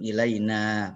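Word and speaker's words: إلينا: Nahnu tuh domir nahnu, ilaina panjang bacanya ya.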